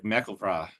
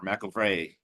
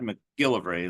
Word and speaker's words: MacGillivray: That the last syllable is the emphasis. So it's almost like McElvra or McElvray, not MacGillivray like we do, or I do at least. More the middle syllable than anything. But he's saying people in the know back then. He's in the 1890s now, saying elderly people say the syllable emphasis on the last.